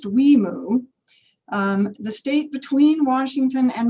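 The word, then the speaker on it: WIMU: For anyone who is wondering, the resulting name of this program is pronounced WEMU.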